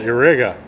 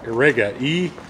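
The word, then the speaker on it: Irega: Now this wrench is actually, it's Channellock, but it is made in Spain by a company called Irriga. I'm hoping I'm pronouncing that close to correct. Irriga, I-R-E-G-A, Irriga, from Spain.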